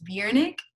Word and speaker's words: BJRNCK: that, Apple Music, at BJRNCK. I know you guys are probably like, what the hell does that mean, or how do you even say it? But it's BJRNCK.